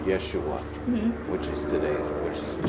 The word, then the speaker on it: Yeshua: so they used why so would have been pronounced Yeshua which is today which is Joshua and so